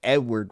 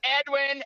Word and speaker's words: Edwin: we we have Edward the fifth it's Edwin and you better get it right say it again